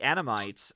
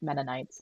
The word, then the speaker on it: Mennonites: But having it set within this time period, or at least particularly with this group, the Anamites, I think I might have mispronounced it. Mennonites. I think it's Mennonites. Mennonites.